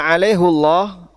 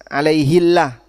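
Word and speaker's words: عَلَيْهُ ٱللَّهَ: Kalau dibaca alaihullah ini tafhim sehingga Allahnya jadi tebal. Allah alaihullah. Kalau dibaca alaihi jadinya jadinya tarkik. Sehingga di situ bacanya jadi tipis alaihillah dan dijaga tafkhim karena agar bisa dibaca tebal.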